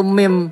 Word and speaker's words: meme: lu Hah Sotoy lu tulisannya Meme Tapi bacanya Yang benar itu mim Oh o a o